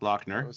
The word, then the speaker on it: Lochner: and then we got lochner like uh you know I'm going to the Loch Ness but instead of s it's ER so lochner harder Heather yeah we're